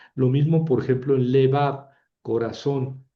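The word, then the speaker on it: לֵבָב: Lo mismo por ejemplo en levab corazón le bab. y va ahí cae el acento y es una sílaba cerrada, pero tiene boca larga, ¿verdad?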